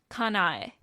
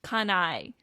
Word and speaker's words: Kanae: that actually makes a remember that each character within Japanese represents a syllable so they're each their